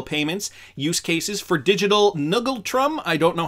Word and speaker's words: ngultrum: the year 2023 so i just checked it's pronounced angultrum that's uh their currency so here's uh here's